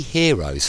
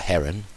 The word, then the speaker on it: Hero: It's actually Hero's formula. I think it's pronounced hero and not heron, although it is spelt heron, but it's Hero's formula for the area of a triangle.